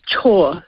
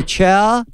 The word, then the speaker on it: Chhour: pronounce the surname uh it's chore like do your chores oh thank you see I was wrong I I said it's either ciao because I just went